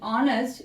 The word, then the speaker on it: honest: Now you see in honest H is silent.